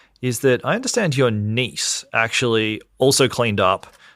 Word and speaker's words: Kniess: went and won no my last name is pronounced niece right so n's n which